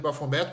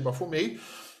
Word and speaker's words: Baphomet: O pessoal também chama de Baphomet, mas a pronúncia correta é Baphomet.